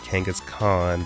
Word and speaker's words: Kangaskhan: Kangaskhan, Mega Venusaur, and I know it's pronounced Kangaskhan, but on this channel we say Kangaskhan.